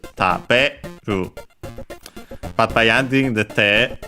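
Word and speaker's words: 食べる: And so, careful that the accent, when in its dictionary form, is taberu.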